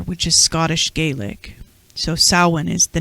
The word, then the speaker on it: Samhain: going to talk about it's spelled samhain sam hayne however in irish translation it's samhain like cowan but samhain so it's calvin cowan